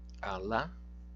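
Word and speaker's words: alā: Alá, vamos pronunciar corretamente, alá, alá. É um pouco mais demorado esse A em relação a esse.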